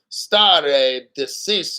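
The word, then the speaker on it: stare decisis: stuff nothing complicated star deis there you go St deis it's not Italian it's Latin when a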